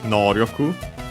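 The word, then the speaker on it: 能力: This one is accent on the first syllable, so the second most common accent for those.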